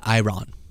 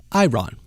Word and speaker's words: Iran: Apparently, they pronounce it Iran. Iran. Like someone who's very succinctly saying their name is Ron.